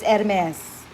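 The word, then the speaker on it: Hermès: is nasa a girls pronounces hermes silent age dialect it's hermes okay so that you know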